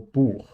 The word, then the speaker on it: Buch: CH can be ich, or it is Bach or Buch. Those two, Bach and Buch, sound almost the same in the consonant quality. One is pronounced a little bit more forward and the other one a little bit more backwards because of the letters R and U. There's no other reason. They almost sound the same.